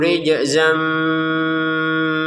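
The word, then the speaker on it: رِجْزًا: di sini ada jim kita pantulkan ya rij seperti itu. Jangan sekedar rij rij rij. Mana pantulannya? Enggak ada riza. Rid enggak ada pantulan. Kita pantulkan dulu rij. Nah, baru ke zai ya.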